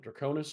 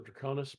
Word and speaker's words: Draconis: the fabled and rumored Mount Draconis or Draconis. Pronounce it either way is fine. I'll probably pronounce it both myself because I switch a lot with pronunciations that can go either way.